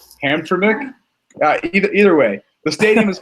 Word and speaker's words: Hamtramck: I'm going to say Hamtramck. I want to say Hamtramck, but there's an extra M there, so I know that's wrong. Hamtramck.